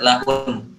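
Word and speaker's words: لهن: Antum ingat di situ masih ada tasydid, jadi harus tetap dibaca. Wa antum libasul lahun. Lahun. Lahun. Antum tahan di huruf nun.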